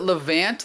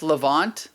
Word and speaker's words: Levant: from the what is that how do you pronounce it levant levant you know what i'm talking about lebanon no no no no no no not lebanon no the lavon l-e-v-a-n-t is a name for all of like